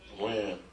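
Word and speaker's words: Wynn: Win.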